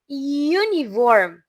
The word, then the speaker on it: uniform: Nah, yang bawah juga sama uniform. Uniform Yu Yu lagi ya huruf Y atau Y.